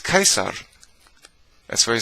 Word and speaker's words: Caesar: b says right but people still say see like caesar caesar are you stupid it's kaiser that's why it says